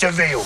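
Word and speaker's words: De Vil: He's spelled devil, but it's pronounced devil.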